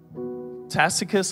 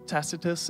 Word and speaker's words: Tacitus: and writers Caesar Plato tacus I think is tacitus is how you say it Homer all these writers